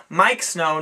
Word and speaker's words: Miike Snow: know we just looked this up it is pronounced Mike Snow not ma or whatnot we will post a